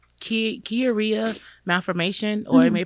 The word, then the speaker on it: Chiari: I have what's called Chiari malformation, or you may pronounce it Chiari.